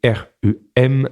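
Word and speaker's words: rum: le rhum rhum c'est le rhum tel qu'on prononce en France ro n c'est à l'espagnol et Rem c'est à l'anglaise donc finalement voilà quelque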